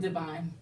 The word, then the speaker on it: Duvin: So I just combined the 2 words And that's how you, pronounced it Divine.